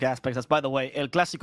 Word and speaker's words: El Clásico: That's, by the way, El Clásico only has one S, and there's an accent on the A. We're Spanish and not French.